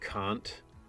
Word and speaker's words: Kant: It's such a bummer to me that his name is pronounced Kant, because there's so many puns you could do by saying can't, you know? but it's not pronounced that way.